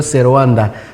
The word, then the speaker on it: servanda: Et nous, les latinistes, nous disons servanda, parce que la lettre V se prononce en W.